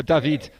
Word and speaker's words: David: it before from french-canadian that's why we say his name Daffy is more dahveed's David French rather than our David from the French side the east side of